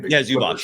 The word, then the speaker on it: Zubac: I mean, he was grappling with Zubac, how do you pronounce his name? Zubac, yeah, exactly.